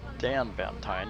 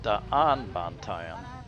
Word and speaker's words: Daanbantayan: Daanbantayan has two A's, D-A-A, and in the Philippines you pronounce both letters. So it's not Daanbantayan, it's Daanbantayan.